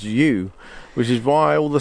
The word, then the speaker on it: Hjo: at the place that's spelled HJO, which is, I'm told, thank you, I think it was Karen told us this, it's pronounced you, which is why all